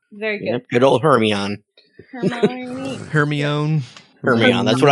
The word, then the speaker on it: Hermione: He kept calling her Hermione. Hermione. Hermione, she said slowly and clearly.